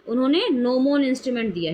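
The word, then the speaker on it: gnomon: उस इंस्ट्रूमेंट का नाम है नोमोन। नोमोन जी साइलेंट है इसमें।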